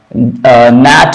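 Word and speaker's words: gnat: न आ रहा है, नेट में जी एन के लिए न आ रहा है, जी साइलेंट होता है, और निमोनिक में पी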